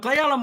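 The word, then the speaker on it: Cle Elum: if I'm missing oh clay Ellum from clay Ellum Washington I love it can you tell I'm from Washington too since I pronounced it correctly happy New Year happy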